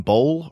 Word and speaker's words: Bowl: And that do you pronounce his name Bowl or Bowley? Oh, Bowl. Yeah. Bowl.